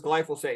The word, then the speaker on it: glyphosate: Its official name is glyphosate. And I sometimes get viewers who who write me comments, you're not pronouncing it right.